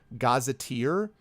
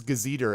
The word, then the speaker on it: gazetteer: ago and it was I had never heard the word gaza tear pronounced so I thought it was gazebo and I pronounced it as gazebo and the person was